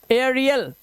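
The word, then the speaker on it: aerial: ध्यान देखना, ध्यान से देखो, जब किसी शब्द में AE के बाद आर आ जाए तो क्या करना है? AE के बाद आर आया तो AE का उच्चारण क्या होगा? एया। अब यहां पर देखो ध्यान से क्या लिखा है, अब इसे क्या पढ़ेंगे? इसे पढ़ेंगे एरियल। क्या पढ़ेंगे? एरियल। तो इसका उच्चारण हो गया एरियल, ये हो गया एरोलाइट, एरोलाइट।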